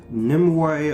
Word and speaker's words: Nimue: queen nimoy herself i finally was able to pronounce that name right nimoy of course you know she's gonna be the